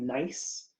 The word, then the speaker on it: gneiss: So this rock is called gneiss, but that's not nice like the way that you're nice to your friends. It's spelled Gneiss, and it's what's called a high-grade metamorphic rock.